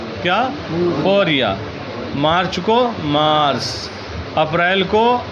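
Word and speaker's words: فوریه: فوریا، کیا؟ فوریا۔ مارچ کو مارس، اپریل کو آوریل، اپریل کو کیا کہیں گے؟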